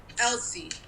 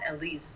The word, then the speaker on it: Elsie: I was just like, Elsie, not Elise. Like, it's Elsie, it's not Elise.